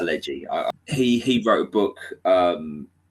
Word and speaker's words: Pileggi: Nicholas Pileggi, I think is pronounced. That's it, Pileggi.